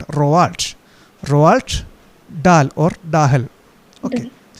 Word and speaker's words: Roald: Not it is not Ronald, but Roald.